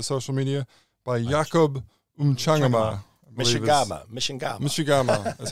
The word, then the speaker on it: Mchangama: Mishigama is how he pronounces it in the film last night.